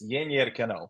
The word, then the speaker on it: Yennier Canó: It's like there's sort of a tilde on there. It's Yennier Canó.